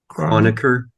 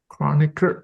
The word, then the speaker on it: Kronecker: So that's Chronicle. Can you how to pronounce this again? Kronecker. Kronecker.